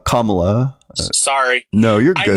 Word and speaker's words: Kamala: Yeah, and I don't know if you know this, but her name is pronounced Kamala.